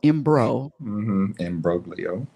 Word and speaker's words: imbroglio: Imbroglio. I'll never use that word again. Promise. Oh, I'm sorry. It looks like the G is silent. My bad. Hold on. Imbroglio.